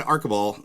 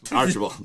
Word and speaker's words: Archibald: Today on Movies Don't Suck and Some Do, we're interviewing Chad Archibald. I said it wrong again, didn't I? All right. You got plenty of chances. Archibald.